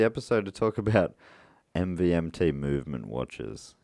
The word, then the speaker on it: MVMT: to talk about MVMT movement watches? You don't pronounce it MVMT. I've been strictly told by a note here, and I never will again.